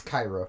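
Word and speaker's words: Qi'ra: Bettany more dynamic roles Qi apostrophe ra k y ra that's Cairo she pronounces akita well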